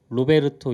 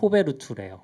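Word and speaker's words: Roberto: 그래서 저희가 겪었던 것 중에 하나는 이제 루아 언어를 만들었던 로베르토 이에루 자림스키라고 보통 이제 많이 읽는데 물어봤어요. 어떻게 읽어야 돼요? 네. 호베르투래요. 호베르투.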